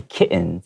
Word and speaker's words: kitten: baby cats right and even though there are two T's we often make that t sound very uh like silent kitten kitten yeah you can say kitten that's fine too but uh in English